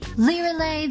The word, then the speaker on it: Lyralei: A cold wind blows for you tonight, Lyralei. But she does reveal the correct pronunciation of her own name through her Arcana. Lyralei, the Windranger.